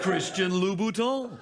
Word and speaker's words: Christian Louboutin: Christian Louboutin.